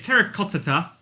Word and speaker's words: terracotta: everyone says it wrong it's terracotta right like rattata but like terracotta but i i will